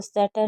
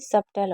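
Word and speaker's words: subtle: जैसे lamb, com, climb, थम, doubt, that, सटल, नम, इसमें टी साइलेंट है तो सटल नहीं सबटल होगा।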